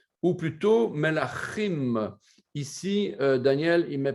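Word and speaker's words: מלכים: On doit prononcer le Ch guttural de la gorge. Pas facile de se mémoriser ça. Melachim, Melachim Aleph et Melachim Bet.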